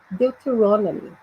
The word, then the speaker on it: Deuteronomy: Deuteronomy. Deuteronomy. Ok? Eu até sublinhei aí a sílaba tônica.